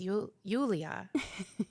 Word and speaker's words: Yulia: Her name is Yulia. It's like Julia, but with a With a Y. Y. It's a Yeah. very common name. How do you pronounce it? How would you? Yulia.